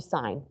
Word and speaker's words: sine: and H is sign I know it's spelled sin s n but in math it's actually sign okay so it's going